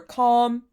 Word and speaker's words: calm: pull back half and the same goes for calm and balm lip balm lip balm I hate saying this word because it reminds me of bum But bum and bomb are quite different, right? So the L is silent.